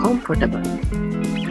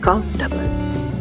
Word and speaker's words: comfortable: Many learners are saying comfortable, but the correct word is comfortable.